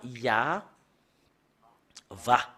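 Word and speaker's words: יהוה: Et on le prononce avec le terme Ya, Va.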